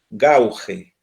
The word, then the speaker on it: gauge: se escribe el perdón se escribe así gauge gauge así gauge y se pronuncia con sí y se